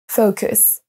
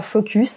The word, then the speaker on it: focus: Et on ne dit pas focus, mais focus.